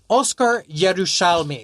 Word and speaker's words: Oscar Yerushalmi: Pronounce it for everybody. Oscar Yerushalmi. Oscar Yerushalmi.